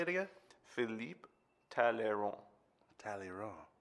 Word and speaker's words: Talleyrand: Talleyrand. Yeah, the D silent.